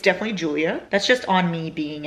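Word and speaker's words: Giulia: it's gulia oh no I think I thought it was gouia but it's actually Julia it's literally pronounced Julia I don't know why I thought it was gulia it's because it's with a G it's G i u l i a and so I thought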